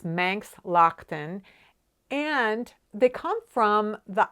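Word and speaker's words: Manx Loaghtan: to pronounce it cuz I do know now it's Manx Lockton but I didn't know and I was like is that Laughton is that Loughton I had no idea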